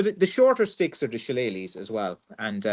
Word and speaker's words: shillelagh: And so the shorter sticks are the shillelaghs as well, and pronounced shillelagh.